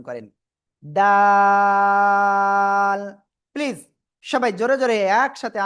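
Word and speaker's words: دال: জিহ্বার আগা উপরে 2 দাঁতের গোড়ায় লাগান, লাগিয়ে 3 আলিফটা নিয়ে এই অক্ষরটা উচ্চারণ করেন, ডাল। প্লিজ সবাই জোরে জোরে একসাথে আনমিউট হয়ে জোরে জোরে বলেন, ডাল।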